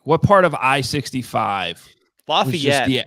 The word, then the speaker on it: Lafayette: I love how you say it though, Lafayette. Very fancy. I don't know if it's just like because like at least in Indiana, it's just like Lafayette. Like it's Lafayette, West Lafayette.